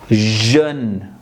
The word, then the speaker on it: jeune: In French, J is pronounced as J. So EU here again it gives a sound. So it is jeune, jeune. E will be silent.